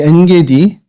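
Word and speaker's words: עין גדי: 아인이라고 하는 단어인데 이게 단어에 어디, 그러니까 지명 같은 데 붙으면, 그 단어에 붙으면 N이라고 발음이 됩니다.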